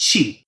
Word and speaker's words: Qi: Now isn't it yeah so the old spelling Chi and then the new spelling is Qi both of these are supposed to be pronounced the same even though the the spellings look really different in English it's just Chi and that's why in